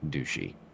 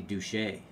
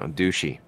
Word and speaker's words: Dushi: It is pronounced Dushi. I would think it'd be Douche. No, Dushi. Bobby Douche.